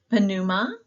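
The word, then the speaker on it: πνεῦμα: Pneuma, we do pronounce the P and the nu there.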